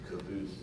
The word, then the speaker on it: Cobus: And David Solomon, how do you pronounce it? Cobas? Thanks for asking. Yeah, Cobas. Cobas, okay. That's how I pronounce it. It's Cobus.